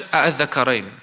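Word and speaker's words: آلذكرين: They pronounce in a way where it's tasheel. They made it easy for them to articulate with both hamzas. Instead, a'adh-dhakarain, a'adh-dhakarain. They'll pronounce it like that. You hear both of the hamzas, but it is made lighter.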